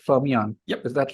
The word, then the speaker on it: Fermyon: Fermyon. Yep. Is that right? Is that how you pronounce it?